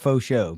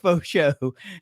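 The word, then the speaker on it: Faucheaux: because it's f-a-u-c-h-e-a-u so i'm going with that cajun type pronunciation yeah i know even though he's even though he's from ohio i'm still going with yeah i'm going to church it up a little bit and go with fosho hey it sounds nice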